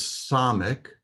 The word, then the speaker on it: samek: The next letter is SAMEK. It is pronounced as an S, as in sin, not the SH sound.